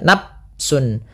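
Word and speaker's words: نفس: di dalam melafalkannya ya kesalahan yang sering terjadi juga di dalam membacanya dia tidak tidak mengalirkan nafas Misalnya nafsun ini dengan diganti dengan P ya Padahal dia bukan kemudian pelafal Sun ada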